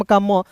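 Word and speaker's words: comb: जैसे यहां आप देखेंगे सी ओ एम बी मैंने सबसे पहले आपको क्या बताया? किसी वर्ड्स के बीच में ओ रहेगा तो उसका उच्चारण औ के रूप में। तो यहां देखिए सी का क हो जाएगा। ओ का उच्चारण औ के रूप में और देखिए एम और बी है तो बी साइलेंट हो जाएगा। तो एम का म तो क्या हो जाएगा दोस्तों? कॉम क्या हो जाएगा? कॉम हो जाएगा।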